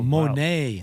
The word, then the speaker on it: Monet: I'll Ooh, pronounce that's it. wow. Monet.